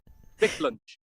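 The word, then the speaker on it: Kvikk Lunsj: So tell us how it's pronounced in Norwegian. I'm not even going to try and... Was it Kvik? Vik lunch, apparently.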